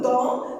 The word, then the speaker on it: dents: Il a de propres dents. Propre, c'est un adjectif qui est au pluriel. Donc la marque du pluriel ne se prononce pas. Dents se termine par une lettre muette que je peux la